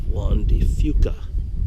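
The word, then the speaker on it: Juan de Fuca: out there is What's called the Straits of wandy Fuca and if you go out that direction you're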